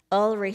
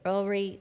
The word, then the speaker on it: Ulrich: Obviously, accustomed to this response, Ulrich said, it rhymes with jewelry. Ulrich, jewelry.